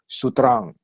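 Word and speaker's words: sūtram: So instead of sutra, we say sutram. So we don't pronounce with M, sutram. Pronounce with vibrate, nasalized, sutram.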